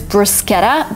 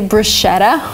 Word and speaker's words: bruschetta: The first word is bruschetta, but I've heard a lot of people say bruschetta, which is not right.